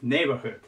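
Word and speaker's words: neighborhood: neor HOOD てです neor HOOD でこれも最初にアクセントが来ますこれも大事で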